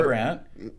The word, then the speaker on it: Brandt: Keith Lee Brandt, which rhymes with Lou Grant.